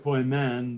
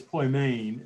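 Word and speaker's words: ποιμήν: gender in ministry uh the phonetic spelling would be poi main and so i i said poi men but it's poi main is how you would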